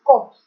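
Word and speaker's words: corpse: इसमें are silent है, ध्यान रखना, कॉप्स नहीं है, इट्स कॉप्स।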